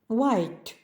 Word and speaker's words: white: слова сьогодні у буквосполученні WH на початку слова вимовляється тільки w Як без H смуга